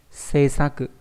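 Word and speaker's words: 政策: Seisaku. Đấy, đọc là Seisaku.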